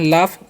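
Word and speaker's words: laugh: तो इसे हम लोग पढ़ते हैं लाफ। यहां पर इजीएस का उच्चारण जो है फ होता है।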